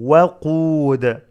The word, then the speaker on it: وقود: وقو وقو not woo. واو has فتحة not ضمة. واو فتحة و. وقو وقود.